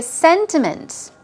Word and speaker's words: sentiment: person here we go sentiments think of sentimental if you can't remember the meaning of this word sentiment stress goes on the first syllable we're talking about feeling